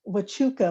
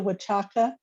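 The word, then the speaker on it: Huachuca: will say one thing it is the um wachuka mountains not the watchaka it's a misspelling and a mispronunciation and um we call them saguaros here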